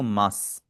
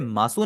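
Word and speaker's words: ます: आप उसे मासू नहीं पढ़ेंगे। आप उसे पढ़ेंगे मास और एक और जो है काफी कॉमन इस्तेमाल होने वाला फ्रेज़ है वो है योर कोनेगाशिमास।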